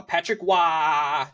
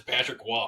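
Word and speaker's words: Patrick Roy: the New York Islanders fire lane Lambert uh Patrick W takes over um I don't know why his last name is spelled Ro Y and they pronounce it w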